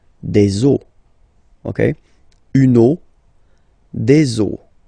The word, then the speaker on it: eaux: the rule is that you get to put X here at the end, but then same rule, you don't pronounce it. Des eaux, okay?